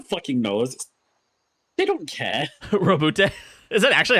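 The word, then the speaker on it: Roboute: Teacher can pronounce it Roboot. Is that true, Sheep? No. I say Robute.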